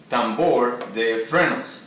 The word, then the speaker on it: tambor de frenos: So now the main thing of the video, which is how to write and pronounce in Spanish. So brake drum in Spanish is tambor de frenos.